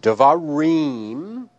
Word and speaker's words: devarim: Using the word devarim, we identify each of these syllables. Reem is the ultima, va is the penultima, and d is the antepenultima.